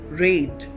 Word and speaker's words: rate: When we end this word with E, it will change its pronunciation to rate. R-A-T-E, rate.